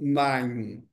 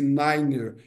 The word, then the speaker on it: niner: Eh, e aí quando falarmos números a rádio telefonia prescreve que não devemos falar nove como nine, esse niner.